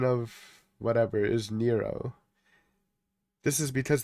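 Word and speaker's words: Nrvnqsr: Hey, according to according to Doodle AI, pronunciation of whatever is Nero. This is because the name is a deliberate word play on the Hebrew gematria for Nero Caesar where the letters add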